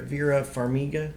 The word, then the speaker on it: Vera Farmiga: same characters via vera vera farmiga is how you pronounce her name she is uh she's